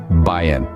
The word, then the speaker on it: bien: well now let's break down the pronunciation it's pronounced bin try it out let it roll off your tongue BN let's now put BN into context with a